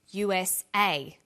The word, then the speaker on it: USA: Notice that each letter in the abbreviation is pronounced separately, but the last letter is pronounced more strongly because it carries the primary stress. So we say USA, ASAP, ABC, and TV.